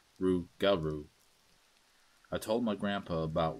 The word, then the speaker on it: Rougarou: was old legends of the Rougarou, which is pronounced Rougarou.